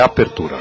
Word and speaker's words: apertura: espanhol a abertura então você vê a diferença neste apertura em português é a abertura ea pronúncia correta em espanhol é apertura exatamente me obrigando a